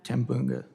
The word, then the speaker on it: Tambunga: Tambunga, did I pronounce that correctly? Bunga? Tambunga. Tambunga. Thank you for coming here today, and I'm very sorry for your loss.